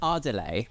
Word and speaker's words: Ardales: part of the job I can in fact confidently tell you it is pronounced adelay and it is located